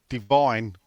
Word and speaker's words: Divin: thoughts on Divan or Divine, as I'm supposed to, I think, pronounce it, even though there's no E.